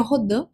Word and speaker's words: Rodin: que o matemático, né, Mark Rodim ou Rodan, como queira pronunciar, o certo seria Rodã, mas vou falar então marca rodinho, só para você entender como é que se escreve, tá?